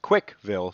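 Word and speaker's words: Cwcville: is Up For Debate called Quick Fill pronounced quickville somehow and founded by Chris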